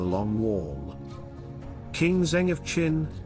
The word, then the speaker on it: Qin: the purple frontier in China the Great Wall was christened the long warm King Zheng of Qin pronounced chin where China's name also